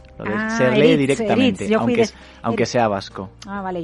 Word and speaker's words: Eriz: Casi me has presentado perfectamente, excepto el nombre que es más complejo, que es Eritz. Lo de se lee directamente, Eritz, aunque sea vasco.